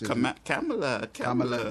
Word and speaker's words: Kamala: Kamala. Yeah. Like the girl from Games from Saturday Night Live.